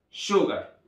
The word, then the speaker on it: sugar: Tenemos acá una negrita, lo cual denota que tenemos que incrementar nuestra entonación en esta sílaba. Así que es sugar. Muy bien.